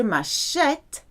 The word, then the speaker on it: m'achète: that s'acheter has no accent on, but je m'achète, because of that silent, or we call it